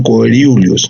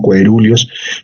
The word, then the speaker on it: coeruleus: locus ceruleus o también coeruleus, ¿no? En algunas referencias no se dice ceruleus, sino coeruleus, pero ahí está, ¿no?